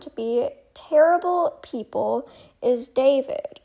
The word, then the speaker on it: D4vd: of artists found to be terrible people, is David, spelled D4 VD. For those that are unaware, something happened recently with the artist David. Again, spelled D4V D, but it's pronounced David, who is a very popular pop artist.